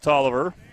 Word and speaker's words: Tolliver: I know it looks weird when you look at the spelling. Well, there we go. But that makes it easier on me. It is pronounced Tolliver.